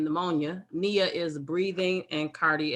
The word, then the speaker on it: pneumonia: brady is slow nia the p is silent like in pneumonia nia is breathing and